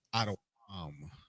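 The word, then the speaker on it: אדום: To pronounce their name in the Hebrew, it is Adawam, Adawam, and that just simply means red.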